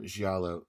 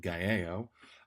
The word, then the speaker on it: giallo: of film and literature, giallo, several times, but I actually mispronounce it as giallo.